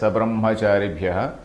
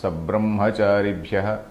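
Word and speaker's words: सब्रह्मचारिभ्यः: I read it as Sabrahmacharibhyah. Sabra also has to be pronounced Sabrahmacharibhyah Shesham Kalakramena cha. We have to read like that.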